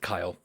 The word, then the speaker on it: Kyl: KY L um but she prefers you to pronounce it Kyle uh and as apprentices of Kyle um on